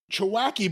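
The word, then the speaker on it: Chewchki: of Pittsburgh versus Chief I may get this wrong. Chewacki? Chewacki, but it's spelled c h e w c h k i. That's how you spell it.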